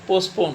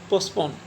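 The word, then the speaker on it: postpone: तो आप लोग इस ध्यान रखो, यकीन ना आए तो डिक्शनरी देख लिया करो, टी एकदम साइलेंट होता है। पोस्टपोन बोलो प्यार से, पोस्टपोन।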